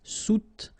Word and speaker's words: soutenir: Okay, so sous first, and then don't insist on this here. Soutenir, soutenir.